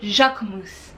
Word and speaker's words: Jacquemus: And a lot of people say that the K is not pronounced, but he pronounces the K, and so I'm gonna pronounce the K. So for me, it's Jacquemus.